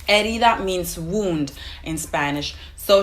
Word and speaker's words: herida: difficult to understand because she doesn't pronounce the word as it's actually pronounced. So she says ni una haría. It's supposed to mean ni una herida. Herida means wound in Spanish.